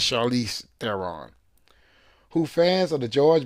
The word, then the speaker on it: Charlize Theron: I always say her name as Charlene. I'm sorry, it's Charlize Theron.